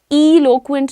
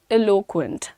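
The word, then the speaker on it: eloquent: अब प्रोनाउंसिएशन पर ध्यान दे देंगे एक बार, एलोक्वेंट, इलोक्वेंट नहीं, एलोक्वेंट, सिंपल इज दैट, ठीक है।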